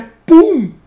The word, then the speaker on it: Pum: Que o nome dele, meus queridos, é Pum. Ai, dó. Ai, tadinho. Pum. P-U-M. É com M ainda. Pum. Então Pum. É Pum. Pum. Não, não. A pronúncia é Pum.